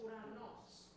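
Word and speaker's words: Οὐρανός: The word in Greek is pronounced uranos. The accent is on the third syllable, if you ever need that.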